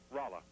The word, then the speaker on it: Rolla: Rolla. Rolla. I'm sorry to have mispronounced it, sir.